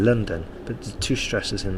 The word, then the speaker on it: London: noun and likewise um to pronounce the capital city of england correctly it's london okay london there's a bigger stress at the end there london sorry at the beginning london but there's two stresses